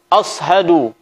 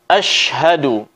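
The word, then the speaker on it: أشهد: ada membaca seperti ini aus Haduh ya Ashadualla Ilahailallah off yo yang benar adalah Asyhadu suara mesin yang keluar dari tengah lidah Asyhadu bukan aus Haduh yang menyerupai suara huruf soad kemudian yang ketiga terus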